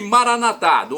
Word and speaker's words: Maranata: nossos irmãos separados os evangélicos ou protestantes dizem Maranata modificam a tônica colocando a penúltima sílaba nós católicos colocamos na última não tem problema é